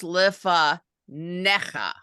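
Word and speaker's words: לְפָנֶיךָ: word tells you otherwise here you see this extra little vertical line right there yeah uh next to the Segal means that's where you emphasize it so it's lifa neka yeah okay yeah I'm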